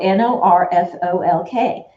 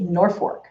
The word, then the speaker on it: Norfolk: a a town called it's spelled n-o-r-f-o-l-k so you would think it's nor folk is how you would say it but it's not we say norfork the l is an r and we always know